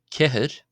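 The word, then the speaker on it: ceathair: number four is pronounced kahut see another slender r here at the end that's why it's not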